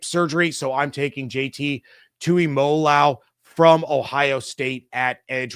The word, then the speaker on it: Tuimoloau: I even looked up how to pronounce it before I started recording this, which is really, really frustrating. But it's Tui Moloau from Ohio State.